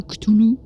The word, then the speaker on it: Cthulhu: C'est ça, hein, Cthulhu, c'est bon, j'ai bien prononcé cette fois-ci.